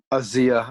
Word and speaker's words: Asia: what's what's her name Asia Argento Asya I believe is how you pronounce it either way it's spelled Asia yeah yeah she's a